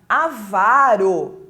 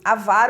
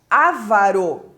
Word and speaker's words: avaro: né Eh a palavra avaro avaro é a pronúncia correta mas as pessoas têm a tendência né de pronunciar Esta palavra como ávaros como se tivesse um acento nesse primeiro a e não tem se